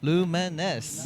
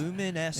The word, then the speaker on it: Lumines: Um, Luminous Arise. Yeah. Pronounced Lumines. Lumines.